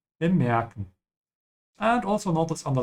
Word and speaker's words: bemerken: Notice the dot here and bemerken to tells you that the E in the middle should be stretched. So you should say bemerken und nicht bemerken und nicht bemerken. Yeah. So all these I said are wrong except bemerken.